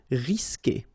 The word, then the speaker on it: risquer: Okay, you don't pronounce the U, so risquer.